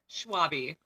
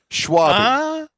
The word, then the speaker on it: Schwalbe: Schwalbe. Schwalbe. Okay. See, it was right. Well, he was right. I know. It's a weird one. The L is silent. It's German. A lot of people mess it up.